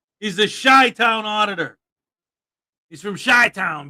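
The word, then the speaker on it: Chi-Town: No, it's not Chi Town. Not Chai Town. It's Shy Town. Like sh Y, but it's CI. Shy Town.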